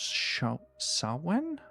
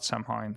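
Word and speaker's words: Samhain: Kubo approximately pronounced sha sawen. Okay. Not samine. Sen. It's Gaelic.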